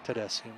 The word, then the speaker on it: Tedeschi: Tedeschi, okay.